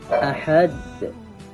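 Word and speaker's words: أحد: Ahad. Ahad harus dipantulkan di akhir ayat.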